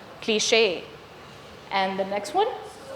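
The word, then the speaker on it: cliché: Cliche. The stress in this word falls on the second syllable. Cliche.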